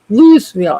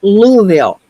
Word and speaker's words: Louisville: And people go, "It's not pronounced Lville." I said, "No, it's pronounced Louisville."